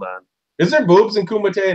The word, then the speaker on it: Kumite: Michigan, and we were just talking about the pronunciation of the tournament. It's called the Kumite, right? Is that right? Yeah, the Kumite. It was basically from the movie Bloodsport. You know, they compete in the Kumite, except that's full contact martial arts.